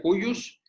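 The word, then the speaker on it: de cujus: el de cus ela se escribe pocos se pronuncia cuyos es el difunto es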